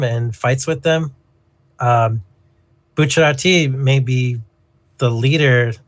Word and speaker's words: Bucciarati: Like Bucciardi's Oh like the driving factor. no, it's Bucciarati. Bucciarati, or however you pronounce his name.